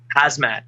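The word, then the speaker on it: Khamzat: say that again how do you say hazmat hazmat okay pushing him like crazy and i know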